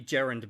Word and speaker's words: gerund: So this is going to be gerund moving forward, as in Jerry Gerund.